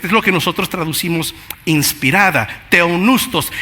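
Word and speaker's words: θεόπνευστος: Y esa palabra en el idioma original se pronuncia teoneustos. Es lo que nosotros traducimos inspirada, teonustos.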